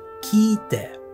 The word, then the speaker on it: 聞いて: It's like a long i sound, ki-ite.